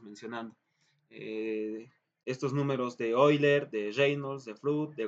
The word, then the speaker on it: Euler: El número de Euler, se pronuncia Euler, ¿no ve?